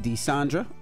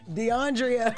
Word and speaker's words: Deiondra: If you're just joining us, we're talking about Jacquees and his fiancée, Deiondra. Did I say it right? No. Deiondra. Deiondra. I know it's Deiondra. There you go.